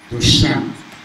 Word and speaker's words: dos Santos: Dr. Mingi pronounced it correctly. And he said, dos Santos. That's how we say it in Portuguese.